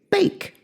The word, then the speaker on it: bake: pronunciation of the word making the vowel the a say its name here how the a